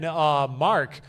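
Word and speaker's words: Marq: I was so happy when Mark, Mark Q, Mark, it's spelled M-A-R-Q.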